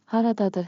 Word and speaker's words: Haradadır: Haradadır harita. Pronunciation beat. Clap with me. Rhythm makes memory sticky. Ha ra da dur. Ta ta ta ta. Haradadır.